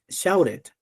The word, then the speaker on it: shouted: Oh, shouted. Ow. Esa O va a sonar ow.